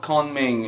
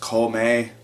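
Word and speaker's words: Kōmei: It's spelled Kongming in the localized version for some reason, but I believe it's pronounced Kome based on what I've been hearing from the anime.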